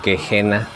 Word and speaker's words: Gehenna: Recordarán que en la tienda de Katakomben compramos esta piecesota First Spell de Gehenna o Gehenna, como nos dijeron que se pronuncia en noruego.